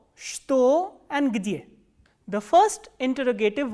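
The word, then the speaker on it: что: The next interrogative word is ch, ta, o, and as I have already told you that this word is pronounced as shto, not like chato.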